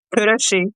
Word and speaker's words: Kőrösi: And let me see if I pronounced your last name right. Kőrösi, is that correct? Kőrösi.